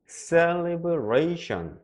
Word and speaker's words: celebration: 레에 제가 레 발음을 조금 크게 써놨죠. 레를 조금 더 세게 발음해 주시는 거예요. 조금 더 세게. celebration 이게 영어 발음할 때 특징인데요.